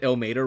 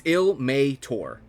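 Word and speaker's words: Ilmater: Every single person here has said ill Mater wrong too. So, ill. It's ilmeator. Like Mater like from Cars like to Mater.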